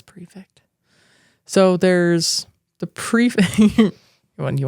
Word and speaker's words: prefect: like perfect yeah it's prefect so there's the pre you want the book p r e is it's spelled perfect p e r it's definitely prefect p r e f c t I totally was reading